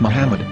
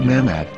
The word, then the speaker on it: Muhammad: Ben yehuda's Hebrew English dictionary it is correctly pronounced as Muhammad not mmad so how we're going to know for sure